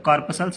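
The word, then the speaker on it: corpuscle: and white blood cells जबकि ये गलत प्रोनंसिएशन है इसको एगजैक्टली हम प्रोनाउंस करेंगे red blood कार्पस and white blood कार्पस अब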